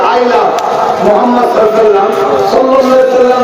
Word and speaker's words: মুহাম্মদ: আপনারা সবাই একবার বলুন মুহাম্মদ, আপনারা উচ্চারণ করুন মুহাম্মদ। খেয়াল করতে কোন নবীর নাম নিলে দুই ঠোঁটে ঠোঁট ঠেকছে, বলুন মুহাম্মদ।